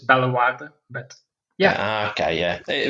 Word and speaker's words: Bellewaerde: We was it's probably completely wrong pronunciation wise. We call it Belwadi Park. Yeah, well, it's good enough for me to know what you're talking about. So yeah, it's not all that differently pronounced. It's Bellewaerde, but yeah, Okay, yeah, it was Belgium's version